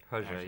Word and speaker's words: Hergé: Hergé, yeah.